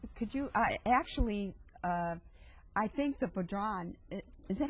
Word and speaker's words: bodhrán: Now, could you, I think the bodhrán, is that how you pronounce it? Is a very bodhrán, yeah.